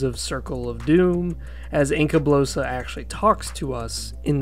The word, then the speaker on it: Encablossa: is Inca blosa evil some people have different pronunciations some people say Inca blossa I prefer Inca blosa because Kingdom Under Fire uh Crusaders is pretty much how they pronounced it and it makes sense to me to call it Inca blosa makes sense to me